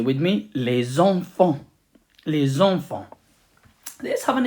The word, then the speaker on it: enfants: Children, normally les enfants, but we put the listen and we say les enfants, and we don't pronounce the T and S at the end again. Say with me, les enfants, les enfants.